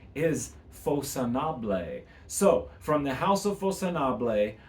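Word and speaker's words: Façonnable: And the house is, I've heard it pronounced facconable. I looked it up. Actually, the correct pronunciation is Facconable.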